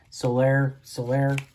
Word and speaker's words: Soler: Soler.